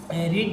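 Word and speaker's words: read: এরকমভাবে যদি আমরা এরপরে আমরা কি রিড যদি নেই, হ্যাজ হি, এটা কিন্তু একটু প্রোনাউন্সিয়েশন অল্প একটু ভিন্ন আছে, রিড রেড, ঠিক আছে, হ্যাজ হি রেড হ্যাজ হি রেড the news paper, okay news পেপারটা পড়েছে।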